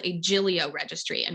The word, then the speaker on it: Giglio: essentially what's called a jillio registry and we argued a lot about how to pronounce it some people say giglio and i tried to